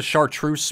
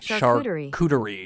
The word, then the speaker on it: charcuterie: Since a chartreuse board, how do you say it? I'm just gonna look it up. Charcuterie.